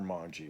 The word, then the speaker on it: Monge: so much to expand Monge's ideas. So Gauss owes Monge, M-O-N-G-E, or Monge, or Monge. I've mostly heard it pronounced Monge.